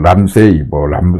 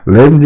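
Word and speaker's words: Ramsay: 이게 어떤 사람은 람사이 헌트 이런데 이거 미국식 발음이 람사이가 아니랍니다. 램지랍니다. 램지 헌트 신드롬.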